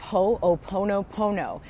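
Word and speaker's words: ho'oponopono: done and that is the healing art of ho oponopono and if you're not familiar with Hawaiian words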